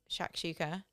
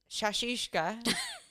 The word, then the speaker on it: shakshuka: So I always pick, and I'm going to say it right this time because I've also realised I've never said it right, shakshuka, Well done. which I've been calling shashushka for the last 30 years of my life.